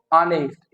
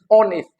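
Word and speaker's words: honest: ईस्ट ऑन इस्ट ऑनेस्ट लेकिन हम कैसे प्रोनाउंस करते हैं इसको नेस्ट इट इ नॉट नेस्ट ओके इट इ ऑनेस्ट नस्ट the third वन इ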